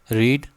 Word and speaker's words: read: रीड, रेड, रीड, ये भले ही spelling वही है, इसको रेड पढ़ते हैं, ठीक है।